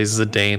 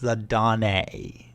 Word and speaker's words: Zidane: i can't remember nope it is a game that has very strong french influences and so his name is the dawne also it's a it's a japanese name and that's just how you would say it anyway i'm not getting into